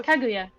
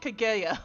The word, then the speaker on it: Kaguya: I was told yeah kaguya it's it sound like he said kagaya or something like like there was an e instead of a u worries yeah even my